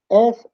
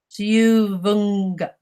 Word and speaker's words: siuvunga: One way you can get over that, you know the English word sing? Yes? Put an A on it. Now say it. Singa. Singa. Don't say the G.